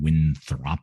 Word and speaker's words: Winthrop: Craig makes fun of how I say this, Winthrop, Washington. Winthrop, yeah. Winthrop. That's what he says. You just make it a little more casual. You just kind of Winthrop instead of pronouncing the word Winthrop how it is spelled.